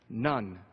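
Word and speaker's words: ن: This is the Arabic letter for N and it's pronounced none.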